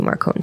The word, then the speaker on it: Marcone: caving to peer pressure i'm going to assume that it is meant to be marcone so we will call him marcon all right and there